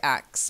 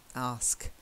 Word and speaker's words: ask: better good good good I bet your brain will still miss read it and you'll say axe but a lot of people do it but you just have to get so used to it that you don't even think about it anymore ask okay then the next